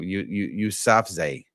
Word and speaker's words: Yousafzai: I think I might be saying it. Yousafzai, I believe is how it's pronounced.